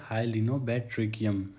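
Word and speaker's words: Hyalinobatrachium: इस वर्ड की प्रोनाउंसिएशन होती है हाइलिनोबैट्रिकियम। हिंदी में भी मैंने इसको लिख दिया है, आप वहाँ से सीख सकते हैं।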